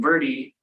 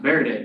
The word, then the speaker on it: Verde: So you might be wondering why Dave and I have been saying Verde and not Verde as it is spelled. Well, the local people in Arizona that live around the Verde, so those communities, they call it the Verde.